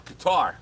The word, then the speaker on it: Qatar: Kuwait Andor uh uh Qatar or Cutter depending on however you want to pronounce it but anyway so my